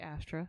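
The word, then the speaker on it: AFTRA: anyway uh the SAG Afra do we pronounce it Afra or do we just say AF no you can say aftera the SAG after strike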